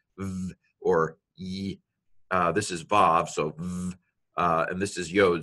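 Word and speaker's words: וָו: an O here but this letter is called evolved I'm going to save of some pronounce it Wow but I'm pronouncing it like modern Hebrew so I'm gonna go with the Bob this is another nun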